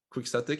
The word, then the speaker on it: quixotic: nft marketplace it's called quixotic that's really hard to spell it's like q u i x o t i c quick static it means it means